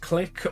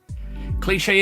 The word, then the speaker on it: Clique: It'd be pronounced click or cliche if you don't know how to pronounce it, basically. Cliche is the more common one that people use, but it's wrong.